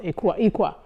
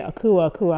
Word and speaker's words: Akuaa: And actually my name is Fanti, which is Ikwa. So when they started saying Akuaa, I was like, no, that's not how you say it.